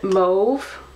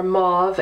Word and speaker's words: mauve: expect it to be it's a move or mauve as most Americans say and the reason why I say that is because even though I'm an American and I say it mo I I heard somebody same old one day and I looked it up in the dictionary and I was like son of a gun that is how you say we're all saying it wrong over here number 112 vivacious fuchsia